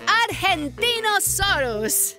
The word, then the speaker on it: Argentinosaurus: Devo I'm the Argentinosaurus whoa that is a big name for a big Dino I have to break it up to say it right R gen teen oh sore us that's me so I'm